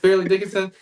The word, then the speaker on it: Fairleigh Dickinson: Did I say it right? Farley Dickinson? Fairly. I can never say it. Fairleigh Dickinson.